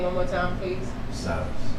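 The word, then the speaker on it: Silas: one more time please silus silus like in the Bible I was thinking about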